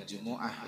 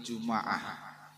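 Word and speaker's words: جمعة: Jadi membacanya, kalau tadi Jumu'ah, ini Juma'ah, ya, mimnya di fathahkan. Dan yang ketiga, dengan cara mendommahkan huruf mim. Ini cara baca suku Uqail. Jadi bacanya Jum'ah. Jadi ada 3 cara baca, Jumu'ah, Juma'ah, dan Jum'ah.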